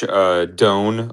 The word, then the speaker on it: Doan: Well, okay, I believe it was at minus 120, but yeah, John Doan, D O A N, uh, I believe is actually how you say it.